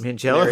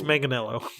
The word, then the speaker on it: Manganiello: Mangello? Is that how you say it? No, it's Manganiello.